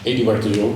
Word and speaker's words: Eduard: So my name is Adio although in England I'm Edward easier to pronounce.